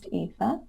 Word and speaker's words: Aoife: yes my pin tweet so it's my name pronunciation which is the first thing that people struggle with yeah my name is etha yeah um and it'll tell you what i